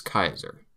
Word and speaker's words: Caesar: Take for example Ulus Julius Kaiser Julius Caesar yaka ala yakta est.